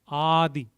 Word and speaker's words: Adi: Then Adi. Adi. Adi. So it's like A with a bar over it.